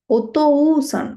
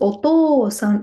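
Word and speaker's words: おとうさん: So you should not pronounce it as oto-u-san. No, it is oto-san. It should be like O only. So oto-san elongated with this to itself.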